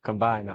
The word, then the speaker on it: Combina: I said, but let's take the T-I-O-N off and just leave C-O-M-B-I-N-A. Combiner. And pronounce it combiner.